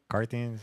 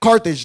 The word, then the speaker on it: Carthage: uh uh car how do you say it carthins yeah what is it um where uh Carthage Carthage there you go she's from Carthage and they